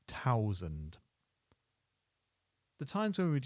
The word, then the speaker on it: thousand: 100 is 100, and 1000 becomes thousand. We drop the H, so thousand.